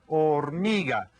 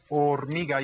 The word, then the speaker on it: hormiga: Hormiga. And you might want to write that in your Spanish notebooks, right? Hormiga. You hear that the H is silent. The H is silent on that.